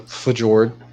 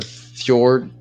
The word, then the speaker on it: Fjord: to go to the for Jordan The Fjord Fjord it's not for Jordan it's Fjord right that's how it's pronounced uh f j-o-r-d I